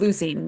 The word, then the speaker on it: leucine: leucine.